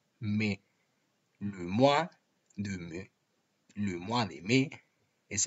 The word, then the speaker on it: mai: En el mes de mayo, como veis, donde dice mai, cuidado porque el diptongo ai en francés se pronuncia e. Por lo tanto, es imprescindible pronunciar me.